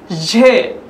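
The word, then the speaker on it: ژ: চে, ঝে, এই বর্ণটা ফার্সির স্বতন্ত্র একটি বর্ণ, এর উচ্চারণটা দেখতে জের মতো হলেও উচ্চারণে ভিন্নতা রয়েছে। উচ্চারণটা খুব ভালোভাবে যারা আমাদের ভিডিওতে দেখছেন বারবার শুনবেন, ঝে, ঝে।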